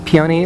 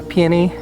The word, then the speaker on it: peony: So this is a peony or a peony, depending on how they say it, where you are.